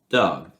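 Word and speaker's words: dag: the days monda tista you never pronounce the last g because that's the case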